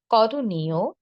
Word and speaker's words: করণীয়: শব্দের শেষে যদি অন্তস্থ অ থাকে তাহলে অন্তস্থ অ এর উচ্চারণ অন্তস্থ অ এর মতোই হবে, ও এর মতো হবে না। কিন্তু অন্তস্থ অ এর আগে যদি একার বা ইকার থাকে তখন উচ্চারণ হবে কি? ও এর মতো। শেষে ওকার দিয়ে উচ্চারণ করব।